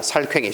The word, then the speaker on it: 살쾡이: 그러듯이 이것도 마찬가지로 살이다 보니까 거기에 적용돼서 자꾸 뒷소리를 사람들이 퀭이라고 발음하더라는 얘기야. 살퀭이. 시작. 살퀭이. 그러다 보니까 살퀭이를 쓰는 사람이 적어도 70% 이상을 차지하더라. 살괭이라고 하는 것보다는 살퀭이. 그래서 살퀭이를 맞다고 정한 거야.